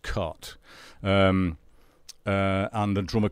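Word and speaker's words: Cait: Shane invited cut O'Riordan her name looks like Kate but it's actually pronounced cut and a drama called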